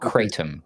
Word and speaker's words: kratom: It's called kratom.